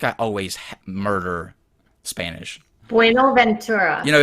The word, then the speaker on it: Buenaventura: Buenaventura. You know, it's such a sexy language, and I'm over here. I'm uncultured hicking it. You have to learn to roll your R's.